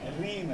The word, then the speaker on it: Reem: Rim है या Reem है क्या है? Reem है, correct? So I pronounce it right.